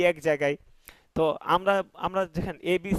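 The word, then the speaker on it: ت: আপনার দেখা গেছে সেমিকলন এল কে জে এগুলো তারা একটা হিসাব করেই লিখছে যে কিভাবে এটা সহজ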